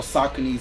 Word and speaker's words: Saucony: So I was copping like Sauconys or Sauconys. I just learned that's how you say it.